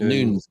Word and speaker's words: Nunes: It's pronounced Nunes, Portuguese. Yeah. I got literally about 4 Portuguese people. It's not Nunes, Terry.